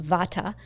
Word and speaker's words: Vata: teach is V the we pronounce it here in the west Vata but the Vata DOA